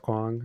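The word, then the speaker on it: Kuang: House by Leigh Bardugo, and Babel, am I pronouncing that right? Yeah. By R.F. Kwong? Yep. Okay. Okay. Kwong. Yeah. Kwong.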